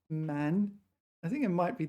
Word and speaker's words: 漫: This is one of these cases where this is pronounced man.